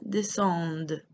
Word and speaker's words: descendent: Je descends, tu descends, il descend, nous descendons, vous descendez, elles descendent. Remember, you're never pronouncing that ENT. It's just there for show.